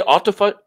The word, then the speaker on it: autophagy: How do you say autophagy? Autophagy. Autophagy. Phage, P-H-A-G, phage means to eat. Auto means self. Autophagy means self-eating. So essentially, the body cleans out all of its cells, self-eating or autophagy.